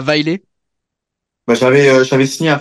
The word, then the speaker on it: Vejle: c'est c'est va donc on dit vaile nous en bon français on dirait vegel mais voilà la prononciation c'est vraiment vaile ouais tu les as